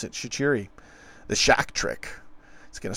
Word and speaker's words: Shaqiri: That's how they pronounce it. Shaqiri.